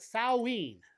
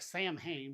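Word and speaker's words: Samhain: They called it sawene. That's how it's pronounced. It looks like Sam Hayne, but it's saw is how they pronounced it.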